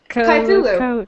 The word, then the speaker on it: Cthulhu: Cthulhu.